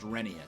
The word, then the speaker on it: Rheneas: like all the official narration in the Thomas television show pronounces it as Rheneas, but apparently there's been some research done, and Reverend Audrey himself said that it was officially supposed to be pronounced Rheneas, so that's how I'm saying it nowadays.